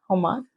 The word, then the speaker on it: homage: Homage. Homage. The H is silent. It's like homage.